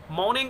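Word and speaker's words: mourning: मॉर्निंग of sparrows, देखिएगा आर यहाँ silent है, इससे पहले वाउल है, इसके बाद कॉन्सोनेंट, तो आर साइलेंट होता है।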